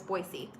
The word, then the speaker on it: Boise: trained in Boise and they made sure to point out that I needed to say it correctly so ever since then I will always say it is Boise eight hours who eat